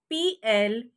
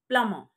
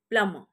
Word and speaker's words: plumber: is not plumber it's plummer it's plumber who is a plumber a person who repairs and fits all our water supply taps and and all that plumber plummer here the letter b is silent the second word c-a-r-p-e-n-t-e-r